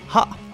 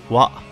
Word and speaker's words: は: Et si vous connaissez vos kana, vous remarquerez immédiatement que la particule s'écrit avec l'hiragana ha, mais se prononce bien wa. Cette particularité de prononciation ne concernera que la particule. Dans n'importe quel autre mot lexical, il se prononcera bien ha.